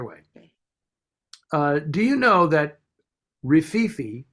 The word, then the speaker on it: Rififi: Do you know that Rififi, which is how I say it, although I've heard it pronounced as Rififi and all these other, you know, things, but